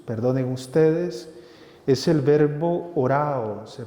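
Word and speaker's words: ὁράω: El verbo usado en esta ocasión por el evangelista para indicar esta acción de Jesús, perdonen ustedes, es el verbo orao, se pronuncia así, que significa mirar, pero no un mirar cualquiera.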